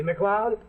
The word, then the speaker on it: MacLeod: Scotts name like mine see MacLeod sounds like cloud SL m HCL EOD